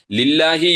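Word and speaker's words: لِلَّهِ: ഭാഗങ്ങൾ എന്തൊക്കെയാണ് അത് ശ്രദ്ധിക്കേണ്ടതുണ്ട് ലില്ലാഹി എന്ന് പറയുമ്പോൾ അവിടെ എന്തൊക്കെയാണ് ശ്രദ്ധിക്കേണ്ടത് പലപ്പോഴും നമ്മൾ ഓതുമ്പോൾ അൽഹംദുലില്ലാഹി എന്ന് പറയും ലില്ലാഹി ആ ഹാ ആണ് അവസാനത്തിൽ ഉള്ളത് പക്ഷേ അത് ഹംസയായി മാറി പോകുന്നു പലർക്കും അത് ശ്രദ്ധിക്കാത്തതുകൊണ്ടാണ് അതുപോലെതന്നെ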